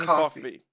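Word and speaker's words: Coffey: was John coffee right Mr John coffee yes like the drink only not spelled the same for green M that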